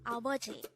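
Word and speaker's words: 아버지: father is again it's abaji this is pronounced as a three syllable word the first syllable is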